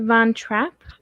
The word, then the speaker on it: von Trapp: The this is based on an actual live the actual is it Van Trapp or Von Trapp? How do you pronounce their last name? Van I Trapp? pronounce it Von Trapp.